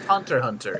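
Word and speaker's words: Hunter × Hunter: that i believe got remastered um and it's pronounced hunter hunter anything with an accident i know i know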